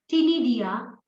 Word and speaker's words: Ctenidia: So C is silent over here for Ctenidia. Okay. C is silent for Ctenidia, and this is the respiratory system.